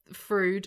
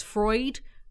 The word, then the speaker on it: Freud: play football calm down fruit no Freud Freud Freud dude then that's not how you pronounce it so it's Freud Boyd Ava wishes she